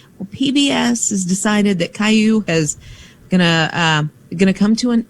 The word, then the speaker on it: Caillou: What is Kale Lou anyway? That sounds like Superman's dad. No, it's Caillou. Caillou? Yeah, it was it's on not PBS. Spelled like that. Yeah, well, Caillou. That's Kale Lou.